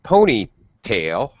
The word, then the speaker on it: ponytail: pulled the pony's tail notice how i go up on tail instead of ponytail pony high tail low in the compound a